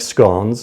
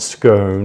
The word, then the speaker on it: scone: And then in the evening, my mother would make scones, and it rhymes with swan. It's not scone. It does not rhyme with stone. It's a scone. It's a Celtic word.